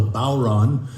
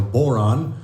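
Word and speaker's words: bodhrán: pronounce it um and I've I've heard it pronounced a few different ways but most often and most by by people that seem to know who what they're talking about it's called a balron uh or or Boron um but it's spelled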